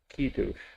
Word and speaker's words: Kiddush: You know, some of these, the emphasis is on the first vowel, Kiddush, which is the more precise way. That most people just say Kiddush.